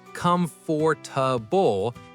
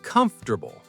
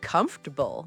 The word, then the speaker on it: comfortable: It's not comfortable, it's comfortable. Or even comfortable sometimes.